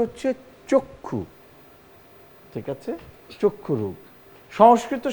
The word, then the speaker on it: চক্ষু: চক্ষু দীর্ঘ উকার, চ যুক্ত খ কয় ক্ষয় দীর্ঘ উকার র ওকার গ, চক্ষু রোগ, এবং উচ্চারণটা হচ্ছে চক্ষু।